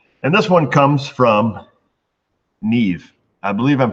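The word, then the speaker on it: Niamh: And this one comes from Neve. I believe I'm pronouncing that right. Probably not. It has an A and an M and an H in it. So I think, and she said pronounce Neve, smiley face, or a winky.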